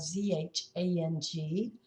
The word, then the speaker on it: Zhang: Now, this researcher's name is spelled Z-H-A-N-G, but it's pronounced Zhang.